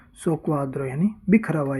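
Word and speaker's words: soqquadro: होते हैं उसका इटालियन में शब्द होते हैं शोक्वाद्रो। एकमात्र शब्द है जिसमें डबल क्यू एक साथ है, बाकी डबल क्यू की जगह CQ लिखा हुआ मिलेगा। डिसऑर्डर होते हैं उसको बोलते हैं सोक्वाद्रो, यानी बिखरा हुआ या उथल पुथल।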